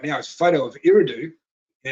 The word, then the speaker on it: Eridu: Google come up straight away, and he says, how do you spell it? I said, E-R-I-D-U.